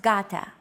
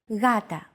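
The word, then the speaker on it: γάτα: This is usually romanized with an initial G letter, but it is not pronounced gata. The first consonant is softer, gata.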